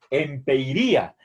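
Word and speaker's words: ἐμπειρία: Bien, entonces, si quisiéramos traducir con una sola palabra, empeiría. Recuerden aquí, este es el espíritu suave que no tiene efecto en la pronunciación.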